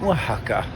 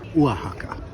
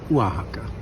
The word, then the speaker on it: Oaxaca: but it is pronounced wahaka. Yes. Sort of like with an h. Wajaka.